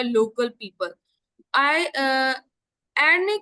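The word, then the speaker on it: Arnie: Question में ये पूछ रहे कि आयरीन एक बंदा है. नहीं, आयरीन नहीं होगा, इसका प्रोनाउंसिएशन होगा आर्नी. आर्नी thinks that the आइस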